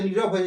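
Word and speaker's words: know: কিন্তু সাইলেন্ট হয়ে যাচ্ছে নিরয়ে দেখুন নো উচ্চারণ করি বাট কে লেটার বা বর্ণটার কিন্তু কোন উচ্চারণ থাকে না সুতরাং এই কে সব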